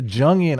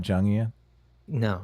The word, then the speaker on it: Jungian: saying like so the jungian ideas there's this collective consciousness right yeah did you just say jungian is it not jungia no it's a jungian okay well i pronounced